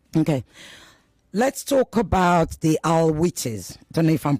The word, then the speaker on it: Alawis: Let's talk about the Alawites. I don't know if I'm pronouncing it correctly. So, what, sorry? The Alawites, Alawite in arms? Oh, the Alawis, yes. The Alawis, thank you. Thank you for giving my pronunciation.